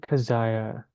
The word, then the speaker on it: Kazaya: workers and Earth's citizens you may call me by the name of kaziah as that is the the closest and most simple human pronunciation that you can understand of my name I often refer to